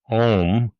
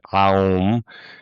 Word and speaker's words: Om: I know how we pronounce om or we say it aum. Which way do you spell it? I've heard it aum and well, seen it aum or om. Which way or is it doesn't matter?